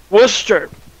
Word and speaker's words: Worcester: Worcester Massachusetts Wooster no like where's hence the sauce like like yeah exactly no we can't pronounce anyway because we're New Yorkers yeah twice